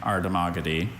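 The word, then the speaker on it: Ardhamagadhi: I have only that pronunciation. Ardmagogy.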